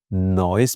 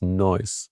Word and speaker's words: Neuss: Yeah, you can Am say I saying news. this right? In Germany, it would be noise, because EU is like pronounced oi, but in America, EU like use.